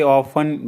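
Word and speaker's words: often: अक्सर जाता हूं आई ऑफें go there I ऑफें go there इसमें टी साइलेंट होता है ऑफ में वह मेरे पास से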